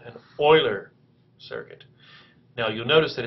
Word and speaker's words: Euler: he died in 1783 the name is pronounced however Oiler like the football or the hockey team so what we're looking for for Rita is an Oiler circuit and you've thought